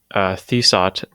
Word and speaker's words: Thesot: Uh, Hello, my guest, Thesot. Is that how you pronounce that? Is it Uh, Thesot? the Sot. The I mean, Sot. it's the, the word the.